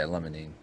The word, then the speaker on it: limonene: I think I'm pronouncing that right. Yeah, limonene.